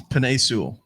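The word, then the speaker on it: Penei: you i don't know how to say his name is it penne pine pine peninsula sewell it's pine they literally had pictures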